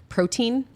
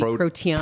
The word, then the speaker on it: protean: Protein. Could be protean. Protean, yep. Protean. Okay.